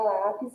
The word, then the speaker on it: lápis: E aí, na mesma dica, a gente vai chamar por lápis, né? Lápis. A gente já percebe aí que a sílaba tônica é a sílaba lá.